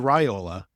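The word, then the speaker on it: Raiola: Dylan Rola can continue sorry Dylan Rola it's in the pronunciation guide of the Oregon media notes so we all have to just deal with it and uh pronounce it correctly now unless what if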